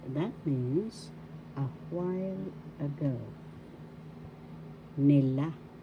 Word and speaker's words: nila: means a while ago nila nila first syllable second syllable la the accent is in the second syllable la so you pronounce it or nila This means they nila